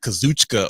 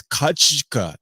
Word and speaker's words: Kazuchika: I said his name is not Kazuchika Okada. It's Kachika. The U is usually like exaggerated and silent.